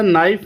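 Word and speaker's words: knife: और इसी तरह नाइफ में के जो है ये साइलेंट है।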